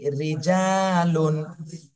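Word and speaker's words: رِجَالٌ: ঋ র জের ঋ রিজালুন র জের রে জিম আলিফ জবর জা রিজা রিজা লাম দুই পেশ নুন রিজালুন রিজালুন রিজালুন তাহলে জিমে এক আলিফ টান দিতে হবে জবরের বামে খালি আলিফ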